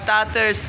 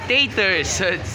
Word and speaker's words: Taters: si sir Neil from tatters entertainment snacks ito yung lagi ers ah taters Thank you for your correcting my pronounciation taters entertainment stocks kasi ang una ko nga sinabi tatters e Okay bati ka muna